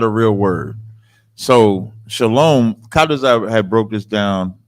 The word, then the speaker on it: Shalom: what you're doing with shalawam right instead of making instead of making a compound word of just Shalom they're pronouncing a sound that's not necessary to be pronounced okay yeah so that's